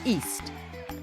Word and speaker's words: East: I learned this wonderful story from a British storyteller called Helen East, which incidentally rhymes with beast and feast.